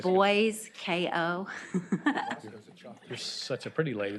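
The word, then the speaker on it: Boysko: just a few minutes Senator Bosco do you have another bill here boyco sorry I think I may have mispronounced like boys KO you're such a pretty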